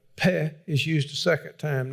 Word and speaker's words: Pe: the letter looks like P-E is the way they write it in English, and R-E-S-H. I'm pronouncing it Peh and Resh.